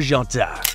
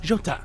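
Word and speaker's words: Jota: he decided to adopt jot so that he could be easily distinguished what does jot mean it's the Portuguese pronunciation of the letter J and the J of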